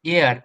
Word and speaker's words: heir: So, I mean, I googled it, but it's pronounced like air.